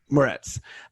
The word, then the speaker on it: Moretz: So it's with Chloe Grace how do you pronounce her last name? Moretz.